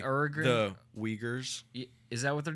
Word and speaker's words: Uyghurs: Uruguay? The Uyghurs.